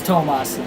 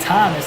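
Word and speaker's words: Tomás: It's meant to be in Spanish, though, so it is Tomas. I try to pronounce it perfectly, and I usually say Tomas. Because with Perez being your last name, that's what I kind of figured, that it wasn't Thomas, that it was Tomas.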